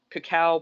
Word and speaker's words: cacao: it's made with like two bananas maple syrup cacao powder and yes that is how you pronounce it it's not cocoa powder because cocoa